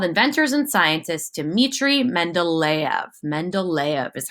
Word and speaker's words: Mendeleev: Mendeleev is how you say his name.